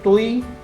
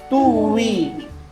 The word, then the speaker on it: Tuy: And then the 'yung ano 'yung tuy hindi siya tuy kundi siya ay tuwi. Tuy ang spelling pero ang pronunciation ay two we karata two wei.